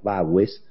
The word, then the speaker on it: Bagües: Antes de retomar la agenda política, lo saludo a Bagues, que es, me parece que lo pronuncié mal, es Bagues, que es del equipo de Portfolio Personal Inversiones.